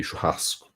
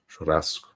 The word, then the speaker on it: churrasco: If I'm saying something in a Rio de Janeiro accent, it might be churrasco, churrasco. Like you roll the R a little bit.